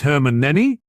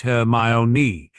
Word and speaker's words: Hermione: Your name is Herman Nenny. Actually, it's pronounced her my own.